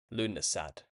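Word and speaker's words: Lughnasadh: This celebration of the god Lu is referred to in Lunasad, pronounced Lunasa.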